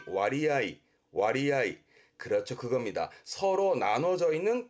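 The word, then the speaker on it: 割合: 그래서 서로 나눠진 부분을 의미하다 보니 음독이 아니라 뜻으로 무슨 얘기냐면 분할의 분가스라든가 할애의 가츠아이처럼 음독으로 가지 않고 서로 나눴다는 의미이기 때문에 뜻으로 읽습니다. 그래서 발음이 와리아이.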